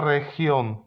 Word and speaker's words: región: Jeśli po G jest E lub I, to tak jak w przypadku literki C, zmienia dźwięk. Tutaj akurat na H.